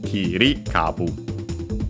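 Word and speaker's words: 切り株: And yeah, so Kiri kabu low, high, low, low.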